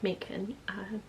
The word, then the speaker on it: Macon: I'm Macon. Yes, that rhymes with bacon.